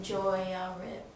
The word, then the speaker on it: Joiarib: How do you spell it again? O-I-A. No E. O-I-A. Joiarib.